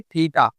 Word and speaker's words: थीटा: कैसे प्रोनाउंस करना है इसे? थीटा। इसको हम कहते हैं थीटा।